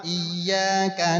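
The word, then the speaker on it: إِيَّاكَ: Yang pertama iyyaka na'budu wa iyyaka nasta'in. Yang keduanya panjang dia, padahal sama-sama mad tabi'i gitu. Kalau sama-sama mad tabi'i, maka hukumnya wajib dibacanya 1 alif. Berarti 2 harokat. Tidak boleh lebih.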